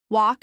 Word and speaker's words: walk: Walk has a silent L and the vowel sound is like the one in law.